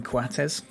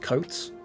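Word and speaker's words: Coates: called Sebastian Cuates and you pronounce it cuates um cuz he was from Uruguay but um his grandparents were like Scottish and it was just coats. It was just it was just like it's just cuz he was Uruguayan that it was pronounced kuates. It actually just pronounced codes if that makes sense.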